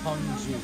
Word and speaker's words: Gyeongju: So don't say it wrong, because it's Gyeongju.